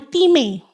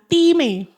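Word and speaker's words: τιμή: Anes itu diambil dari kata Yunani, bacanya time. Sekali ikut ya, time.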